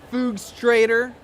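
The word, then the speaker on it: Fugstrator: a t o r so it's like fugs my you know FS that's my half of my last name and straighter okay illustrator it's not that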